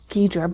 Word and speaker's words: Ghidorah: I've heard it actually pronounced a couple different ways. Ghidorah. Well, I've heard Ghidra, but okay.